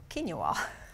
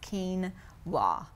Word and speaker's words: quinoa: including myself at one time I called it quena which is not how you say it it's actually pronounced Keen W so this I actually got at Walmart and